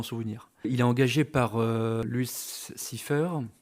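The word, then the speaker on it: Louis Cyphre: Il est engagé par Luce Cipher, c'est comme ça que ça se prononce, tiens, incarné de façon juste effrayante par Robert fucking De Niro au top de son talent.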